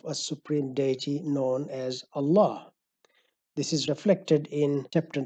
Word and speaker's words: Allah: is an obligation to leave the name of Allah in its original form as it is pronounced Allah this is because the